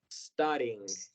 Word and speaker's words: studying: Y por último, studying. Studying. Vamos a empezar con S, no con S.